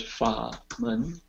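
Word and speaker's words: 法門: I just typed in two Chinese words, fa, mun. Fa is a third tone. Mun is second tone.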